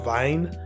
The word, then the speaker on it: Wein: doing research on Hurst Vine now look it's supposed to be pronounced Vine I you know I'm going to go between saying Vine and Vin during this video so don't be put